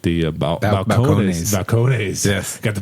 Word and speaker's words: Balcones: Balcones. Yes, got the pronunciation right tonight.